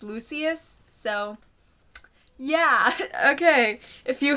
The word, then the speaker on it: Lucius: I Googled it before Lucius Fox I thought it was I thought it was Lucius but I I read online it's Lucius so yeah okay if